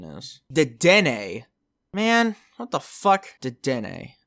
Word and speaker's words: Dedenne: Ew, wait, I should look up what Deden's pronunciation is. Dedenne.